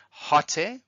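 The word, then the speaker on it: ὅτε: we have hot a hot a with a rough breathing marks we pronounce it with an H and that's translated as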